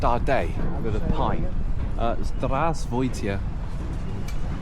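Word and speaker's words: Здравствуйте: Zdravstvuyte. Zdravst That's perfect. Say it like that.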